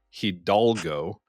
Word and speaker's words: Hidalgo: And every time I say that, I just realized I said it wrong again. It's Hidalgo. And I just put it the wrong way, man.